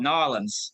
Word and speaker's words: New Orleans: see you Todd and I would say New Orleans but I think you're probably right with the locals saying it more like nor norleans norleans is this norleans or is it New Orleans hey I love New